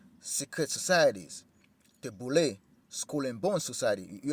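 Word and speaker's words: Boulé: Henry Milton and five other colleagues, the boule, an acronym for Sigma Pi Phi and pronounced boule, was formed to bring together a select group of educated black men and women fashioned after Yale's Skull and Bones.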